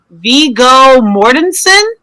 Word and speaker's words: Viggo Mortensen: Viggo Mortensen.